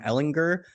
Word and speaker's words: Ehlinger: I think it's a hard G, actually, Sam Ehlinger.